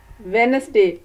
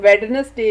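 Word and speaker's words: Wednesday: आप मेरे साथ बोलें वेनसडे। आप देखें कि इसमें डी जो है वो साइलेंट है, हम वेडनसडे नहीं कहते बल्कि वेनसडे कहते हैं, तो डी इज साइलेंट।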